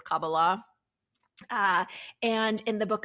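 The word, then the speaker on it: Kabbalah: talmood the mystical texts of the kabala often pronounced cabala but it's cabala uh and in The Book of Enoch specifically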